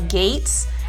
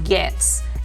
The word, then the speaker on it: Gaetz: spelled Gaetz, and some people pronounce it as Gaetz. It's pronounced Gaetz.